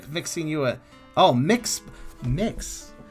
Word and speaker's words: Mx: organizations throughout the uk how do you pronounce mx usually pronounced mix oh it is mix or mux sometimes even sometimes yeah is it an